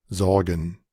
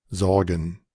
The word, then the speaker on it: Sorgen: y la NG o si está sonando con la G, el schwa y la N, que son dos pronunciaciones válidas. Sorgen, Sorgen, Sorgen.